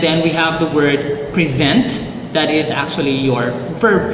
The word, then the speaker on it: present: are stressed differently so when you use the first syllable stress that is basically a noun form but if you use the second syllable stress that is considered a verb let's take for example